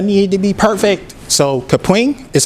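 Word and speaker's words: Kapwing: the edit i need to be perfect so capring is how you say that one and then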